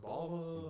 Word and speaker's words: Bala: She's like, yo, it's pronounced Bala.